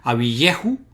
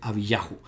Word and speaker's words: Abiyahu: Y siempre, y eso es interesante, siempre la sílaba Yah en estos nombres más alargados del nombre divino, al final pues tienen el acento. Por tanto no pueden ser, por ejemplo, Abiyehu, sino que tiene que ser Abiyahu.